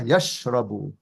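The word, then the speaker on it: يشرب: Yahsabu, and the next one sounds the same, but with a sheen. So Zarif, how do you say that? Yakhrabu. Yeah, yashrabu.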